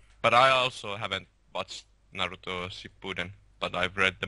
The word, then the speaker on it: Naruto: Do Do you guys prefer Dragon Ball Z or Nuru? Dragon Ball Z. It's pronounced Naruto.